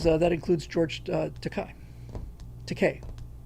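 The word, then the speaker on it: Takei: Teay rhymes with tupe.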